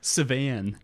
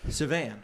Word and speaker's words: Sauvan: Sauvan. Ooh, Nothing, there you go. nothing like you, Okay. like a Frenchman Or would he say just it. said, yeah. Right. Sauvan.